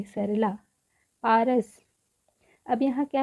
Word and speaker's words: पारस: पारस पारस last में सिर्फ स है। तो स के साथ अ का उच्चारण नहीं हो रहा है।